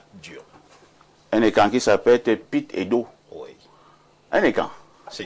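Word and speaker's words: Pete: Donc c'est P Pit Pit Pit votre nom est compliqué hein. P E T E on lit Pit ou Pit incroyable.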